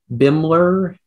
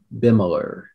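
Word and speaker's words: Bimeler: lutheran church bimmler um are there any alternate pronunciations uh bimler bimmeler is that the two i have been that's correct all right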